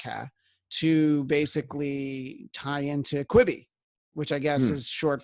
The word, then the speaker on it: Quibi: And B, it's not how you Quibi, because it's not Quibi, it's Quibi.